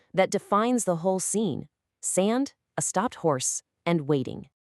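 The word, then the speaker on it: 沙: In Korean, it's pronounced sa and it means sand.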